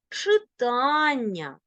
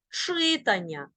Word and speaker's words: читання: падає на другий склад читання видання обрання пізнання але уподобання ні в якому разі не кажи читання завдання видання обрання чи пізнання цих від дієслівних іменниках можна наголошувати тільки другий склад ось такий він наголос